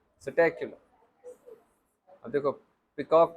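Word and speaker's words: Psittacula: P silent, स्टैक्यूलो।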